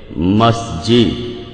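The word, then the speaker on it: مسجد: উচ্চারণের শব্দ থেকে মাস এটা আসলে মিশরী আরবি শব্দ যেটার সঠিক উচ্চারণ হবে মাসজিদ এখন মাসজিদ শব্দটা একবচন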